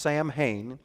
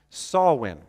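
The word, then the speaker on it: Samhain: a holiday an ancient Celtic holiday it's not pronounced Sam Hayne it's pronounced sawwin okay so saulin is an ancient Celtic holiday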